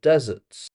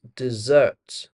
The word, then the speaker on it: dessert: Don't forget it's dessert. And you know how you can remember it? You deserve a dessert. See deserve dessert.